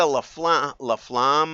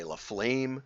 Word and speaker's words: LaFlamme: But what really triggered this whole thing, they say, is that Lisa Laflamme, I suppose it's pronounced. Us English speakers would say Laflame, but it's probably Laflamme.